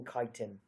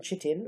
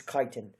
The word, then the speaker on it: chitin: and they have a cell wallet made from kiten okay not from chitin or however else people won't pronounce it it's kiten protoctista it's just one thing you have to